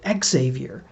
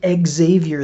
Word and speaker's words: Xavier: order to emphasize the X-ness of it all, he pronounced it Xavier.